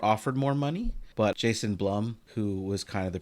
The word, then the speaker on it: Blum: Is his last name pronounced Bloom? No, it's Blum.